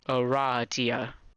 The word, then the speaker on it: Aradia: lot because she immediately corrects you it is pronounced Aradia yeah that makes sense although you've just met